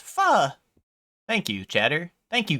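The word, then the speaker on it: pho: Oh, this is fo. Easy, right? Um, actually, streamer, it's pronounced fu.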